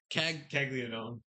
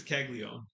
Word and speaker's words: Caglianone: Well, it's pronounced different than it's spelled, and then other people say different stuff, and it's super confusing. I believe it's Caglione.